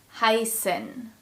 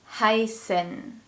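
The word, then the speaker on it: heißen: set in German and the S sound is pronounced just like in the English word snow so it's a sound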